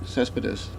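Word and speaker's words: Céspedes: And the fact that Lester Is that how he pronounces it? Cespedes, yeah, that Lester would be a free agent, and he'd really like to stay in Boston and come back.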